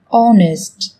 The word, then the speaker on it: honest: Trong tiếng Anh cũng có một số từ mà cách viết chúng ta thấy xuất hiện chữ cái h, nhưng khi phát âm thì chúng ta lại không cần phải phát âm này, người ta còn gọi là âm h câm.